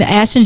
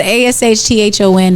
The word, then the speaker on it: Ashthon: But ASHTHON, the second H is silent.